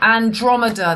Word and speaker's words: Andromeda: time Mars was in Pisces when Andromeda Andromeda Andromeda that's how you pronounce it Andromeda the pirate ship at the